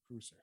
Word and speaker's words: Kreuzer: Karl Kreuzer. Yeah. Kreuzer. So yeah, it's spelled like Kruger, but with an S, so Kreuzer.